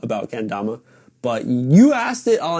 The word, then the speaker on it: kendama: What is kendama in Japanese?